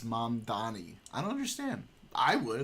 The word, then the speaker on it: Mamdani: I don't understand why he doesn't, every time they mispronounce his name, be like, it's Mamdani.